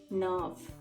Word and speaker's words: neuf: 9 means nerve. NEUF. Nerve. Okay. For equal to what we say? Egal. So do plus set egal nerve.